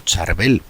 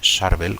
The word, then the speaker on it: Charbel: Su nombre a veces lo pronunciamos como Charbel, aunque en su origen es propiamente Charvel, como lo llaman eh los libaneses.